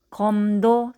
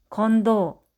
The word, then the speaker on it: 검도: 미음과 디귿이 만나면 검도, 침대. 인데 말을 배우고 있는 아기나 발음에 서투른 사람이 간혹 몬돌, 앤두, 완비, 흠부, 건도, 침대처럼 소리 낼 때가 있습니다.